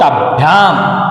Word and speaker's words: ताभ्याम: तस्याहा, तस्याहा, तयोहो, तभ्याम, जो वर्ण आदि होते हैं उसको हमेशा अगले वाले वर्ण के साथ में लेकर, मिक्स लेकर के बोलो। ताभ्याम, ब को या के साथ लेके बोलो, भ्याम, ताभ्याम।